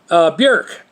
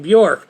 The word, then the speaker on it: Björk: Although sometimes it thinks that you're saying New York, or even if you try to say it right, Björk, with an irk sound, it still thinks you're saying New York or Buick.